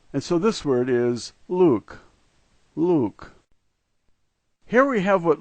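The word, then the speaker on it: лук: The first letter is L, the second letter U, and we're all familiar with the K sound, and so this word is Luke, Luke.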